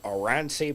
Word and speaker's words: Oranssi: And it's by a band called Oransi Pazuzu. Nice. Yeah, and it's spelt how it sounds.